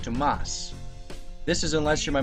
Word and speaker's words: Thomas: Now my real name is Thomas, not Thomas, but pronounced Tomas.